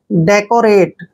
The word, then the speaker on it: decorate: Next word DECORATE, देखिए डी का उच्चारण हम क्या कर रहे हैं, डे, और ई को ए की मात्रा लिखते हैं। सी का उच्चारण यहाँ कै करेंगे, जब भी सी के बाद ओ आता है तो सी का उच्चारण कै करते हैं। ओ को हमने ओ की मात्रा लिखना है, आर को रे लिखेंगे, ए को हमने ए की मात्रा पढ़ना है और टी को टे लिखेंगे। डेकोरेट, डेकोरेट मीन्स होता है